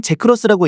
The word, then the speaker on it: GX: GX는 제크로스라고 읽는다.